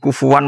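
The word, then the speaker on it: كفوا: Itu ada tiga qiraah kufuan, kufan. Kufu.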